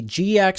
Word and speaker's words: GIAC: And that video was creating a GKX certification or GC or or SANS index.